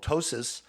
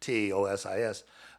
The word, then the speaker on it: ptosis: And then there's also gravity that's pulling down constantly, which is called ptosis, or it's a totic, spelled with a P, Tosis.